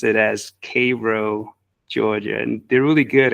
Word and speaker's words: Cairo: you spell it like Cairo Egypt but they pronounce it as Cavo Georgia and they're really good at correcting you if you if you say Cairo it's all over the town um but yes